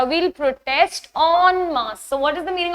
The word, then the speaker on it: en masse: whenever we read foreign words, en is basically pronounced as on. So the very first word starting with on is en masse, which is a French word.